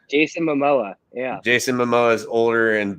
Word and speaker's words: Momoa: jason how do you say his last name mamoa jason momoa yeah jason momoa's older and better looking brother